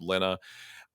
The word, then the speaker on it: Lena: name originally but it's it's German it's pronounced Lena uh with and and